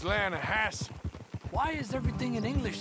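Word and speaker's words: Lannahechee: some beautiful steelhead trout you mean the atlanta hatchet river no no no no no the the lana hatchy it runs right near here yeah but it's pronounced lana hass why is everything in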